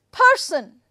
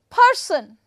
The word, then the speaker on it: person: are two syllables but how am I going to put the stress person person right so I have put the stress on first syllable first syllable is stress